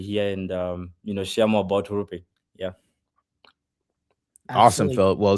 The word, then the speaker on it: HURU: How do you pronounce the project name? Sorry. It's HURU. You actually got HURU. it. Yeah, HURU.